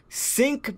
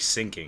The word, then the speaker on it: Sync: No, it's Sync. S-Y-N-C. Like sinking. Yeah, S-Y-N-C. That's how it's spelled.